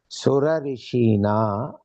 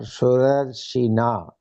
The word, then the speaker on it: सुरर्षिणा: You can also pronounce, because it is indicating rishi, surarishina, like that you can say, or surarshina as one word.